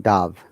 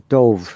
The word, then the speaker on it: dove: you pronounce this word if it is a noun dove okay but if it is verb it is dove remember dive dove dove that's the past tense of dive what what's the meaning